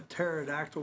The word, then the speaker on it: pterodactyl: Do you know you can't you you know you can't hear a pterodactyl go to the bathroom? Yeah. The P silent.